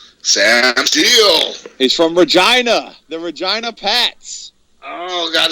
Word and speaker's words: Regina: And as I said earlier, Regina rhymes with fun.